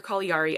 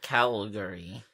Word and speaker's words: Caligari: what I pronounce at Calgary Calgary like the city in Canada yeah but it but again it's supposed to be an Italian name so should be call